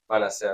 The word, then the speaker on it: Manasseh: Then we have the blessing of Ephraim and Manasseh, or Manasseh. How do you say it? I say it differently. Manasseh. I'm used to the Spanish dialect. So Manasseh.